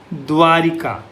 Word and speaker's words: द्वारका: द तो है पर द्वारिका नहीं है। द्वारका है। क्योंकि संस्कृत शब्द से इसको लिया गया है। संस्कृत का मूल शब्द है वह है द्वारका। द्वारिका कहीं ना कहीं बोलते हैं पर यह गलत है।